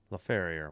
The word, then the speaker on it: Laferriere: LaFerriere.